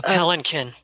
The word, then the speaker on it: palanquin: And then you notice a half dozen clowns carrying one of those things that I can never pronounce. The chair. A palanquin.